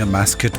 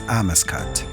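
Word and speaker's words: Amascut: Amascat, goddess of rebirth, which I've been mispronouncing a mascot my whole life, but apparently it's Amascat.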